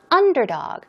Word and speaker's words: underdog: And last but not least, underdog is pronounced underdog. Stress goes on the first syllable.